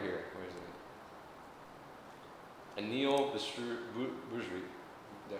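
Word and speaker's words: Bhusri: Anil Bujri. Did I say it right? Bujri.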